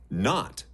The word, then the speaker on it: knot: Knot, knife, knee. These are all Viking words. But somehow we have lost the first sounds, and now they are silent. Shh! But look, there is a pattern. A silent K comes in front of N.